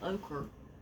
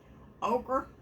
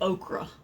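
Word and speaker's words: ochre: proper name oh it's just your standard yellow ocher ocher y'all there's a video on this guy trying to pronounce all these uh paint names and it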